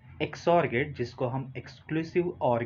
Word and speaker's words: XOR: सो जैसे कि आप प्रोनाउंस करते हैं, इट्स एक्सॉर गेट।